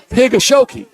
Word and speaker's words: Higashioka: Kyle Higashioka. You seriously? That's good enough. No. Kyle Higashioka.